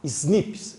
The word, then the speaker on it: SNPs: Ó, se pronuncia assim, ó, SNPs, SNPs, SNPs.